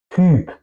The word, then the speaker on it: Typ: Y si es entre, entre de la palabra, se pronuncia un poco más como una Ü, ¿ok? Typ, Typ.